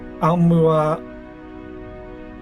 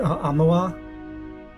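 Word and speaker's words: Aumaua: Amua. I think that's how you pronounce it. Amua.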